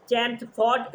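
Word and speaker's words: Chelmsford: India act 1990 मॉनटेगो चेम्सफोर्ड reforms भी कहा जाता है। मॉनटेगोस जेम्स एल साइलेंट है।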